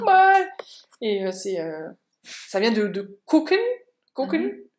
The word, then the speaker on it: gucken: Et ça vient de gucken. Gucken. Mais ça se prononce plutôt comme un K, en fait. Alors que c'est un G.